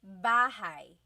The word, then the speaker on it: bahay: You might notice that the spelling is A-Y at the end, so it looks like bahay, but it's pronounced bahay. That A-Y combination is bahay.